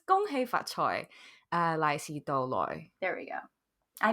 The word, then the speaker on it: 恭喜發財: As a teenager and an absolute fucking brat, I used to say, Gong hei fa cai, lai xi dou lai, which translates to, congratulations, be prosperous, now give me the money.